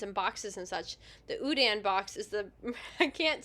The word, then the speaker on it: Houdin: interrupt no you're good no not Houdini Udan the French magician from whom Houdini borrowed